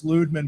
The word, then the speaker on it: Ludman: He's like well really it's it's Ludman but everybody says Lman and I what?